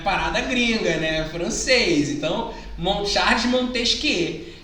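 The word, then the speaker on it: Montesquieu: né Quem é E aí lembrando né gente pronúncia não é montejo que eu não é muito triste que é frango ela é parada gringa né francês então monchatte Montez que é a gente tava passando por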